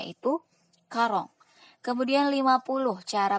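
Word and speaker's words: quarante: 40 tadi sudah tahu ya cara pengucapannya yaitu karong.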